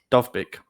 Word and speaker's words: Dovbyk: How do you pronounce his name? Dovbyk.